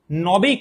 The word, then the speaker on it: নাবিক: এখন দেখো এই নাবিক শব্দটা উচ্চারণ করার সময় আমার উচ্চারণটা কেমন হচ্ছে? নবিক। নবিক এরকম নাকি নাবিক? অবশ্যই নাবিক।